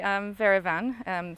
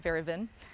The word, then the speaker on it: Verivan: So the name of the company, Verivan, stemmed from verification and van for wine. Everybody ended up pronouncing it Veravin.